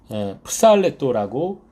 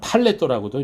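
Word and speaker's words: ψαλλέτω: 여기서 이 찬송할지니라의 헬라어는 프살레토라고 하는 단어를 썼습니다. 어떤 사람은 팔레토라고도 이렇게 발음을 하는데요. 앞에 있는 이 자음이 푸스라는 음이 나기 때문에 그래요. 팔레토 또는 프살레토.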